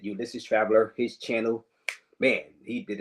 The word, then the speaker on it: Ulysses Traveler: I know I was getting on his nerves because I was calling him Ulysses Traveler earlier, but Ulysses Traveler, that's his real name. That's how you pronounce it. Ulysses Traveler, his channel.